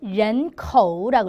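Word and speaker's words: 人口: 중국어로는 런코라고 있습니다. 런코 그죠? 런코라고 읽고요.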